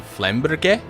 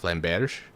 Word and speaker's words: flamberge: English speakers will especially American English speakers will especially be like, oh, Flamberge or Bergie, and it's like no, g. It's extra emphasis on the g.